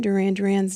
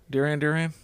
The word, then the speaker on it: Duran Duran: Released June 15th, 1981, Duran Duran's debut album, Duran Duran. Duran Duran.